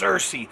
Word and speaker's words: Searcy: we're gonna be in Batesville Mountain home and Searcy which looks like it's spelled C or C but it's pronounced Searcy so Arkansas woo pig sooie coming your way